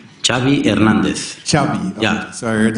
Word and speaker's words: Xavi: Pronunciation of your first and last name. Xavi Hernandez. Xavi.